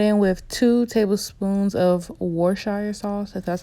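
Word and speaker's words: Worcestershire: then I went in with two tablespoons of war' shire song so that's how you say it next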